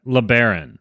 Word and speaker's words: LeBaron: his name is Tyler LeBaron Tyler am i pronouncing your name right is it LeBaron or lay barren or LeBaron all right LeBaron which is French for the bear I'm just